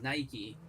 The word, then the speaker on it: Nike: can't use that because it's literally pronounced Nike by the own people who own it that's why we're saying